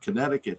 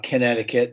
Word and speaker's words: Connecticut: you guys think of uh the setting of Connecticut here the Middle Sea is silent it is it's not connect I mean